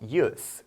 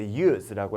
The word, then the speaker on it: use: use 그리고 use라고 해서 이 뒤에 발음을 어떻게 끝내느냐에 차이가 있어요. 사용, 쓸모, 이용이라는 명사로 쓰일 때는 use라고 발음을 하고 사용하다, 이용하다와 같이 동사로 얘기할 때는 use라고 합니다.